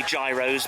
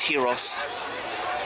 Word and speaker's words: gyros: written there tank Franks I always say Gyros but I think they're pronounced Heroes I'm not sure I have open Notes